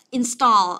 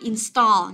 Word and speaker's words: install: Rồi, thế còn install, âm thứ hai này. Đó, từ này install, nhớ chưa? Cài đặt, lắp đặt, install. Nhớ là cái chữ A này mình đọc là âm O dài nhớ, install.